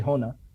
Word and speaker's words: Honā: like so well the the actual name is from sanskrit and you do say honna but um uh an